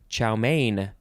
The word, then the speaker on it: chow mein: chow houn chao line next is chow mein two words main is spelled m-e-i-n noun from 1898 a